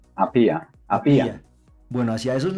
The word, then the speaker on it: Apía: ¿Cómo se pronuncia? Apía, Apía.